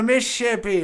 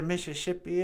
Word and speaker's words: Mississippi: That's actually another mispronunciation of two Ojibwe words, Misabe and Zibi. A Misabe means giant, and a Zibi is a river. I think Mississippi is just the Ojibwe Misabe Zibi said real fast.